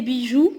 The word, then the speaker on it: bijoux: Des bijoux, c'est le pluriel. X, on ne prononce pas le X.